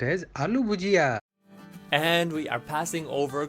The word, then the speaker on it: aloo bhujiya: were served I love you Gia au it's pronounced as aloo bhujiya and we are passing over Kuala Lumpur now